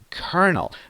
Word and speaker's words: kernel: So this is kernel with stress on the first part.